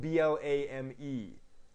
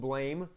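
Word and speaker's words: Blame!: i i pronounce it blam that's the way it's supposed to be pronounced but actually spelled b-l-a-m-e exclamation point so it's spelled blame but it's pronounced blam in japan the author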